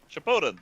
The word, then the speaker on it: Shippuden: Shippuden? I don't know how to pronounce this stuff. Shippuden. Shippuden, there you go.